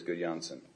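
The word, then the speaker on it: Gudjonsson: 20 please so um GSS is that uh good yansen suggestibility scales yes it is good Jansen how's my pronunciation perfect was it very nice thank you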